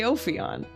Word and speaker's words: Ophion: We got $2 from DJ Ophion telling me it's pronounced DJ Ophion. After Ophion, the serpent from Greek myths who ruled the world before the Titans defeated him.